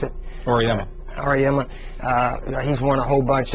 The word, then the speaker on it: Auriemma: How do you pronounce it? Auriemma.